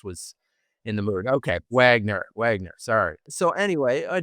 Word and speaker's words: Wagner: Is it Wagner or should we pronounce it dramatically? Which continent are we on? So yes, uh Wagner is good.